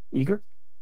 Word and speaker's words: EGRE: layer so how much how do you pronounce eager eager eager like ogre but y but less less unfriendly